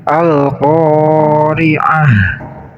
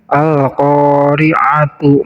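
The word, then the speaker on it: القارعة: Kemudian di sini ta namanya ta marbutoh. Apabila kita waqaf di sini atau kita membacanya di waqaf, maka ta ini berubah menjadi ha. Al-qari'ah. Namun apabila kita membacanya di wasal, maka ini taknya kembali menjadi tak maksudnya.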